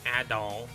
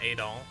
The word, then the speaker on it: Adol: same protagonist at all whose name is apparently pronounced ad doll and not adol um which i guess i can understand just dangerously close to adolf if you were not saying